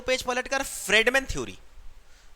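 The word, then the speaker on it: Friedman: फ्रेडमैन बोलते हैं, फ्राइड मैन नहीं।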